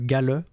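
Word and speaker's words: Galle: La première observation, elle est faite par un Prussien qui s'appelle Gale, G-A-2-L-E, je pense que ça se prononce comme ça.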